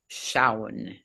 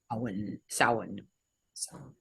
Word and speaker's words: Samhain: Or Samhain is how it's pronounced. Samhain.